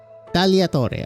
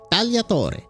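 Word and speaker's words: tagliatore: Uh meaning Talator. Okay. G is silent. I keep forgetting that. Talator.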